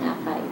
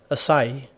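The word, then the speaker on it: açaí: Okay, pinagtalo na kasi din namin ito ng boyfriend ko kung ano tamang pronunciation kasi gusto ko siyang tawaging acai, pero it's actually pronounced as Acai. Acai. Acai.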